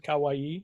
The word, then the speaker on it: kawaii: Kawaii. Is that how you say it? I would have rhymed it with Hawaii, but I guess that's more accurate.